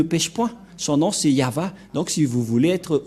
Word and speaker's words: Yahvah: et et va vah voilà le nom de yava prononcé par le grandpère m yava donc voilà nous